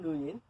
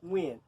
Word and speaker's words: Nguyen: I like to pronounce it Nguyen phonetically. If not, Like you the won't be able artist? Yes, basically, yes. All right. But the actual way of pronouncing it is Nguyen. So, I say Nguyen, you say Nguyen.